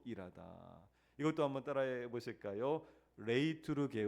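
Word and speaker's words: λειτουργέω: 레이트르게오. 레이게오. 발음이 조금 어렵죠?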